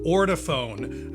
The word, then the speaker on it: Ortofon: It's pronounced orafhone.